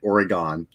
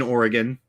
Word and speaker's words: Oregon: I actually went not grammar Nazi on a Truth Sleuth video because she pronounced it Oregon, and I just made one comment like, it's pronounced Oregon.